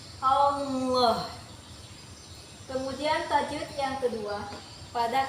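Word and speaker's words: الله: Hukum tajwidnya yaitu tafhim. Karena lam jalalah yang berharokat fathah, cara membacanya itu ditebalkan seperti ini. Allah.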